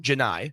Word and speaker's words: Janai: How do you say his first name? Janai. Oh, it's not Johnny.